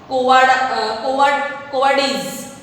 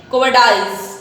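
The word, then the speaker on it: cowardice: उसका क्या है वो कोवर्डिस, यहाँ हम उसको स्पेल आउट कर सकते, प्रोनाउंस करते हैं कोवर्डाइज मीन्स भयभीत, डरपोक बोलते हैं उसको.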